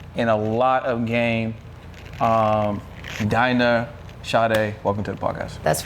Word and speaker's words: Dinah Sade: Dinah Sade, welcome to the podcast.